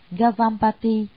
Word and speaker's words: Gavampati: Ngài Kiều Phạm Ba Đề, Ấn Độ đọc là Gavampati, chữ Hán là Ngưu